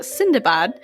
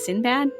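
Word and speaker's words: Sindbad: translated a story about sindabad whom westerners would also know as sinbad but apparently that's not the way you actually say his name in which he and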